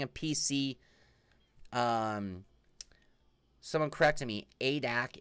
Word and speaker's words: ADAC: ADAC is pronounced A-D-A-C. Oh, A. Why didn't you just write A-D-A-C? You made that a lot harder than it had to be, Sim Racing 604. A-D-A-C, not ADAC.